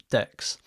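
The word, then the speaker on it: deque: the title I want to show you how decks work and if few cool little features with decks so decks um are short and yes they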